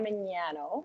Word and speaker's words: Ramignano: Maybe you can say it like slowly out loud, Yeah, so that the G is like gnocchi, it's silent. So Oh. it's Ramignano.